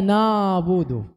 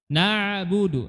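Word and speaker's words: نعبد: Ya, huruf ain tadi iyaka na ya ainnya diperjelas di tenggorokan bagian tengah tidak dibaca nabudu nabudu ini ya logatnya orang Indonesia ainnya enggak jelas ya ainnya enggak jelas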